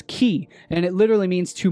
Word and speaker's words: chi: uh ancient Greek alphabet pronounced as as key and it literally means